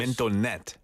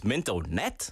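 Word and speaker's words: Mintonette: Originally called, I don't know how to pronounce this. Mintonnet. It's Mintonnet? Yeah. It's French? Yeah. Oh, yeah. Sounds like Mintonnet. it, yeah.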